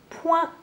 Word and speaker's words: point: Et à la fin de ce mot, il y a une lettre que l'on n'entend pas, mais qu'il faut rajouter, et c'est le T.